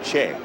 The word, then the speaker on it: Choi: games the local pronunciation the korean pronunciation of his last name is che c-h-o-i is che in south korea but for ease of